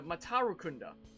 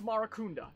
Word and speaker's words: Marakunda: No, not Masakunda, Matarukunda. Yeah, search instead for this thing. It's not getting any results? Did I misspell it? Oh, Matarunda. Wait, no. No, it's Marakunda. Sorry, not Matarukunda.